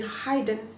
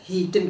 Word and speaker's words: hidden: membedakan cara bacanya karena saya sering banget dengar orang baca skin Hayden karena berasal dari Hai tadi jadi Hayden tapi sepertinya adalah hijab nah hidupnya itu hanya enggak jelas hidden gitu tapi hidden in